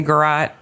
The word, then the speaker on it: garrote: That's how I say garrote. Okay. If you say it differently, that's fine. I know I am acknowledging, as in Z and Z, that there are other ways to pronounce it, but this is the way that I pronounce it.